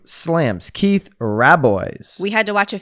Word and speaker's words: Rabois: co-founder slams wait say his name slams keith rabboise we had to watch a few videos to